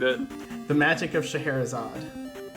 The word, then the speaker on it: Scheherazade: The next game you're doing, since I butchered it. The Magic of Scheherazade. Scheherazade.